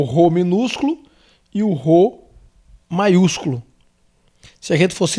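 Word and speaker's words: rô: isso seria ro e é igual ao ref igual r como se você fosse dizer atuo como se você fosse dizer réu o rei então o ro funciona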